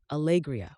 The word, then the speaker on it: Alegria: "Alegria, or at least I think that's how you pronounce it."